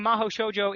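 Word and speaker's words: 魔法少女: one yeah okay apparently mahou shoujo is how it's pronounced in japanese but then they have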